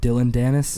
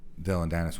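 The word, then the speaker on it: Dillon Danis: the was it D Dylan danis how do you say his name oh Dylan danis is that it yeah he just he got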